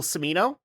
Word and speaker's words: Cimino: is Michael Cimino, I think is how you say his name.